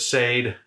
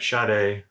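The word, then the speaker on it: Sade: somebody encounters them so instead of sayed and inks's we have shade and in excess so look for eric's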